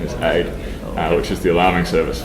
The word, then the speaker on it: Aodh: I'm told the correct pronunciation is AID, which is the alarming service for OpenStack. So it can. For some reason, I thought it was an acronym. No, it's an Irish name.